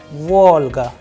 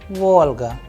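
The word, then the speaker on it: Волга: Please pay attention to the udarenie or the stress sign and the pronunciation of these words. The first one is oblaka, oblaka, then luna, luna, Volga, Volga, look, look, malako, malako, salat, salat, kalbasa, kalbasa, then masla, masla.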